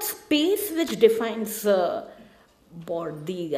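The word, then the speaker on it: Bourdieu: Again, to quote Burdo, it is not space which defines Bordi, I think is the right pronunciation. I always call him Burdo, so you'll have to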